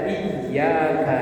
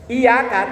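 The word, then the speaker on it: إياك: paling rawan ketika membaca iyaka nabudu wa iaka n yang benar Inya itu kan bertasdid bacanya ditekan iyaka nabudu wa i kalau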